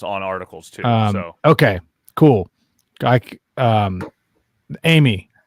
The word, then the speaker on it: Aimee: Amy, spelled with a fucking I.